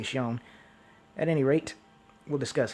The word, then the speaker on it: Xion: It's spelled like, it's spelled Xion, but it's pronounced like Shion or Shone, something like that, but I just say Xion.